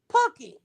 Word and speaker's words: Pookie: I keep saying this Pookie, and that shit is Pookie. It ain't, it's just the same way you would say cookie with a C.